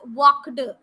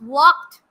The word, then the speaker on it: walked: your fluency goes it's walked it's climbed try to pronounce this d words as t make it as t so that your stress